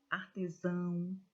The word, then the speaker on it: artesão: Irmão, artesão, pagão. Notem que a última sílaba foi dita com mais intensidade.